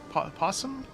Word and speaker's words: opossum: guy rocket knight sparkster he's an opossum possum the o is silent anyway he's a small